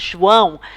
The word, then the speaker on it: João: said his name was João. And my friend said to him, João a drink. So, João a drink. It kind of stuck with me. I never ever forgot how to pronounce the name João.